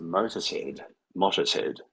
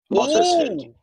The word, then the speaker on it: Motorshead: So I've just been informed by the little voice on my right-hand shoulder that Brock's surname is pronounced Motorshead. Motorshead.